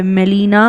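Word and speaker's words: Gmelina: मेलिना आरबोरिया। Right? Jeans में silent होता है। तो how have to pronounce it? मेलना आरबोरिया।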